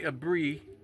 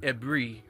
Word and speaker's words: Ebri: I heard you say Abri. They call it. He pronounced it a little different because you got that still American slang to it. But the local people will call it Ebri.